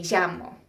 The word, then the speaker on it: llamo: 4, the double L in Espanol is always pronounced like the Y in ya. Well, sometimes, again, depends on the dialect with the country that you're from. It might be pronounced harder, like me llamo. In Argentina, they pronounce it a little differently. But it's never pronounced la, never.